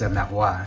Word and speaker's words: Marois: With French pronunciation, I'm always caught between saying it in French and saying it in English because it all gets anglicized. But of course, it's Marois in French.